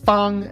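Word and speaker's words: 方: You'll use the Henza movie method to remember that it means square, that it's pronounced thong.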